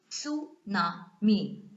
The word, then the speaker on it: tsunami: Even though it starts with T, you know, it is tsunami. Okay, T is silent in this tsunami pronunciation.